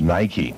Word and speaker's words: Nike: k e so n i ke e is Nikey Nike makes a lot of different shoes in